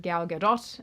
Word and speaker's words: Gal Gadot: They've attacked him for his friendship with Gal Gadot, and that's how you say it.